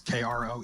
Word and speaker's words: Kroeschell: Beth Wessel Kroschel, or Kroschel. It's Kroeschell, for those of you out there with the Googles.